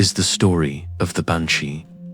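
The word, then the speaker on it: bean sí: In Irish Gaelic, she is the beans su pronounced ban she which translates simply as woman of the fairy mound or fairy woman.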